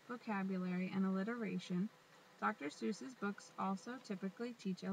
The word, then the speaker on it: Seuss: Theodore pronounced the name Seuss like voice rather than Seuss like Zeus.